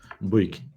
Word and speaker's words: Bouygues: to work together, has ever been able to pronounce the name of that company properly. So it's not you, it's us. Wages. Bouygues.